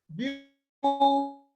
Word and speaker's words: beautiful: In the word beautiful, you also have the stress on the first syllable. Okay, because the syllable there is the long short vowel sound. Okay, that's the monophthong, long monophthong sound. That's what you have in the first syllable, and then you have the short sound in full.